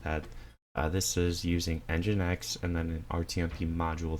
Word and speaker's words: nginx: build essential that is just oh and it's pronounced nginx so NGI anaxes that is the rtmp server